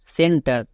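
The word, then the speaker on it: center: জন্য ক তাহলে ক্লাস নেক্সট সেন্টার এখানে দেখো সি এর পরে ই আছে আছে সি এর পরে ই আই ওয়াই থাকলে দন্তস তাই এখানে এটা কি দাঁড়াবে সেন্টার কারণ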